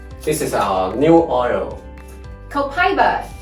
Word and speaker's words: copaiba: Copaiba. Copaiba. I know some people have another pronounced way, right? Yes, you can also say copaiba.